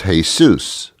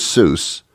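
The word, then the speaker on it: Jesús: and his name was hey soos and hey soos in your little South American country is Jesus but they don't pronounce the J as a J's is they do it as an H so he was hey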